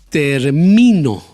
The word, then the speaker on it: termino: la primera sílaba término termino ahí puse el golpe de voz en la segunda sílaba termino y el último